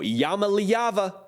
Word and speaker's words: Iamaleava: three are big fans of this guy Nico Yama liyava I'm telling you man the pronunciation game is nice right now over here